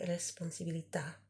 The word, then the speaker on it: responsabilità: Le responsabilità. And you kind of emphatically pronounce the A.